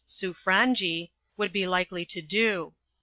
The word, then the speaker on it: Sobranje: on what the Sobranje, it is pronounced Suffrangi, would be likely to do.